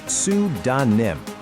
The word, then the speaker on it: pseudonym: See that P right at the beginning? Yeah, it's completely silent. It's like a little ghost letter just sitting there to trick you if you're not careful. The right way to say it is sudanim. And you want to put the stress right on that first syllable.